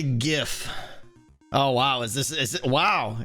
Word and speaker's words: GIF: smart guy yeah like my brain wants to say jiff it absolutely wants to say jiff but i've decided that gif is the right way to say because that's what it should be but it's probably one